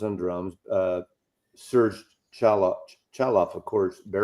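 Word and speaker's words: Chaloff: It's Chalof. C H A L O FF.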